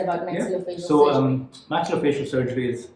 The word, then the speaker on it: maxillofacial: Am I pronouncing it correct? Yeah, maxillofacial surgeon.